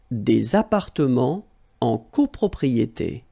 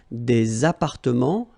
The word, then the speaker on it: appartements: Des appartements en copropriété. Remember, final S and final T are not pronounced here. Des appartements, little liaison here, des appartements en copropriété.